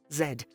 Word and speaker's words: Z: get a raised eyebrow while Americans Rock to the beat of Z the rest of the English-speaking World pronounces Zed it's like a transatlantic